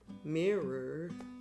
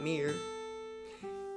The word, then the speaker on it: mirror: Mirror. Two syllable word. Mirror, not mirror.